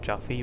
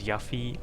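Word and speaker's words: Yuffie: proper way to say her name is not jaffy but uh as lowly as yaffi or yui or JY any of those Abominations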